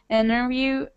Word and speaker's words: interview: Yeah, so you just when this T comes after N, you drop this T and it's pronounced like interview, internet, center. Is it right?